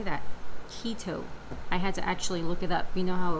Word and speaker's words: keto: me forever to learn how to say that keto I had to actually look it up you